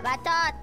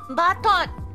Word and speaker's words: bacot: Kok opening, bacot, you know, bacot means like very noisy, yes. Urusai. Betul. Urusai. Ya, bacot.